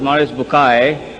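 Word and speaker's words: Maurice Bucaille: a scholar of quran dr maurice bukhail pronounced as maurice bukai am i right doctor doesn't matter okay uh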